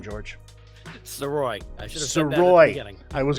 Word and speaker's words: Sirois: how do you say your last name George soy I should Havey I was going to ask